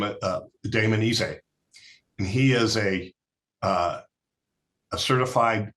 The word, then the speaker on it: Ise: us, a guy by the name of Damon Ise, and he is a certified flight instructor. Is it spelled DAMONDISSA? It's Damon, DAMON, and it's ISE, but he pronounces Ise.